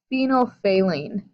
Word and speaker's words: phenolphthalein: hydroxide ions you have now this word here phenolphthalein and that's how you pronounce it phenol saline took me many years